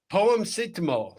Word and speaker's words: Poemcetamol: Yeah, it's poemcetamol, right? Poemcetamol, but it's only funny if you know about paracetamol.